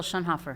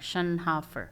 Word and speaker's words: Schoenhofer: Shunhoffer.